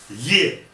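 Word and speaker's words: Е: Ye, it is theoretically is not a sound, but a combination of two sounds, E and E, ye. But it is pronounced as ye, exactly as in English.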